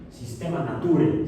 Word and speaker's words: Systema Naturae: obra que se tituló Systema Naturae, Sistema Naturae se pronunciaría, o Sistema de la Naturaleza, o Sistemática de la Naturaleza, o Sistemática Natural.